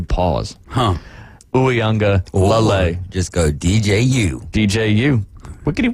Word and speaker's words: Uiagalelei: He was backing up DJ Uiagalelei, and I know I didn't say it right. There's another syllable you got to throw in there. Lele. Uiagalelei. Yep. You almost have to pause. Huh. Uiagalelei.